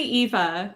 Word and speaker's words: Eva: happy to introduce and bring on Noam and Eva from Shopify. Welcome, guys. Happy to have you. And I'm going to stop sharing my screen. Eva, how do I your name? It's actually Eva.